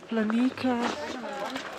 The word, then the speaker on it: Planika: - Not Planica! Planika! - Planika? Is the "c" pronounced like a "k"?